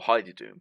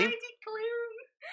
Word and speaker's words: Heidi Klum: Or Heidi Doom, shall I say.